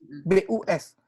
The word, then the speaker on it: bus: Contoh satu kata aja, BUS. Ya kan? Bus. Orang Inggris bacanya bus, orang Jakarta bilangnya bis.